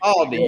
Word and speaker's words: Castaldi: Castaldi, yes.